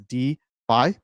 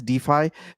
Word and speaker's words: DeFi: comes from decentralized finance is shortened pronounced as d by what is d phi d phi is basically